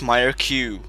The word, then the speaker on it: Myreque: majority of the time I've always pronounced it as my because the word itself reminds me of French so I guess I kind of pronounce it in a French way well not super fren of course but yeah apparently it's Myer Q anyway in this part